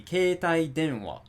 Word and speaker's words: keitai denwa: of the second component, which means that it's going to be on the de. So it's going to be keitai denwa.